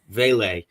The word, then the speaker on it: Vele: Uh Devoni, Valey, I don't know how you say his name. Veil Vele.